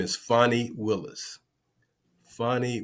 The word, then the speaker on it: Fani: Fani Willis, not Fanny, as some folks like to mispronounce her name.